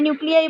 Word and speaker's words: nuclei: जब बहुत सारे न्यूक्लियाई बन गए तो हम उसको क्या बोलते हैं, न्यूक्लियाई. न्यूक्लियाई स्पेलिंग भी अलग हो जाता है, न्यूक्लियाई, NUCLEI, न्यूक्लियाई. फिर इन्हीं न्यूक्लियाई के अराउंड